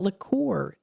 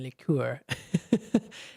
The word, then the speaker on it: liqueur: Also, today's National Liqueur Day today. And yes, I think I pronounced it correctly this time. I've been saying liqueur. National Liqueur Day today, celebrating the glasses and flavors of liqueur.